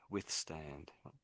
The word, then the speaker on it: withstand: So, I think the emphasis on the first part and it gets a bit quiet as you go on.